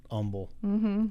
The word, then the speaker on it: Humble: I'm from Good Old Humble Texas no we don't pronounce the h and um yeah that's